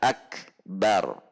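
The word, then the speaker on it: أكبر: Jadi tidak boleh memanjangkan ba pada lafaz akbar. Selanjutnya yang ketiga, tidak boleh mentasydidkan ba pada lafaz akbar. Kita akan lihat bacaan yang seharusnya adalah Allahu kaf sukun, tertahan syiddah, kemudian keluar udara, akbar.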